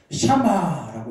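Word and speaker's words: שמע: 이 청종하라는 이 히브리어 단어는 샤마라고 읽는데, 샤마, 이게 무슨 뜻이냐면 듣다라는 단어입니다.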